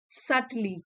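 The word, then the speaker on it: subtly: सटली, B silent है, सटली adverb है, बारीकी से, इन अ डेलिकेट और इनडायरेक्ट वे।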